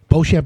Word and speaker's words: Beauchamp: and it's beauchamp water calm the website correct Bo Shep is spelled B ei you champ water calm ocean